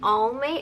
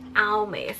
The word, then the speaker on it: Almay: products right here so some people pronounce it differently I know I think I heard only and then I heard Al mace so I don't really know which way you guys pronounce it but the way how I pronounce it I would definitely say it's just all May alright so I have